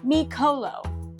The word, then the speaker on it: Mikolo: Before we lift some pronunciations, it's Micolo, Anubis, Bastet, and Jed.